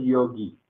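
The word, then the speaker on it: योगी: Pero la pronunciación correcta es yogi. Yogi. Con un pequeñísimo énfasis en la I, porque esta es la I con tilde.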